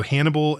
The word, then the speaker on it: Hannibal: Yeah, that's I also feel like there's I have always felt like the name so Hannibal rhyming with cannibal and then also something